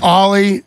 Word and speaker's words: Ollie: Ollie Delgado. And that's, it's pronounced like the skateboard move, Ollie, but it's short for Alejandro.